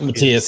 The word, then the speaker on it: Matthias: So I go by the German pronunciation. So it's like is Matthias? Fancy. Yep, Matthias.